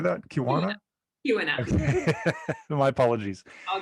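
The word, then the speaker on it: Keweenaw: Kristin Arola, who grew up in the Kiwana Peninsula. You can tell I'm not from Michigan, sorry. How do you say that? Kiwana?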